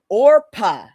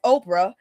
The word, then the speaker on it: Orpah: So Oprah was born Orpah Gail Winfrey, named after the biblical figure Orpah from the book of Ruth. But but people kept mispronouncing it as Oprah, and eventually everybody, including Oprah, just stopped fighting it.